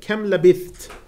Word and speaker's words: kam labitht: Kam labitht. Ibn Kathir, Nafi', Asim recite it as kam labitht or kam wa labithtum. But in any rate, the ta is pronounced with a strong sound. It's manifest. Abu Amr, Ibn Amir, Hamza